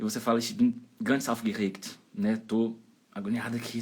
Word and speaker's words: aufgeregt: Aufgeregt. Aufgeregt. E a letra G ali, ó, antes do T tem som de K. Aufgeregt. E a sílaba tônica é a primeira, em cima do au.